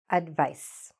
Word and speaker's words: advice: what's tricky there is it's written with a c but it's pronounced like an s okay english is a